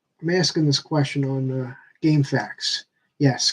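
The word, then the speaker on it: GameFAQs: the problem I have is that I am asking this question on game facts yes game facts it's not game FAQs that's the stupid way pronouncing it but um Throwing Shade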